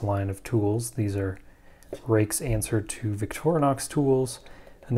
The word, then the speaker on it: Ruike: Impressions review of a rake tool and yes you pronounce it rake I know I can read also I know it's not spelled that way we all just have